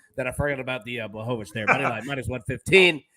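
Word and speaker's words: Błachowicz: Blachowicz, that's what it was. I was so worried about Jan that I forgot about the Blachowicz there.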